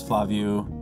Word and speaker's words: Flaviu: My name is Flaviu. It's pronounced like F-L-A-V-I-U, is pronounced as written.